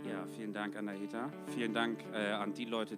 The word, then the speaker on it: Anahita: Vielen Dank nochmal an Anahita. Habe ich das so richtig ausgesprochen? Ja, vielen Dank an Anahita.